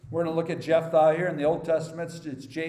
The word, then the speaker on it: Jephthah: by faith so we're going to look at Jeff thy here in the Old Testaments it's j-e-p-h-t-h-a-h but in the New Testament spelled like that in e instead of H and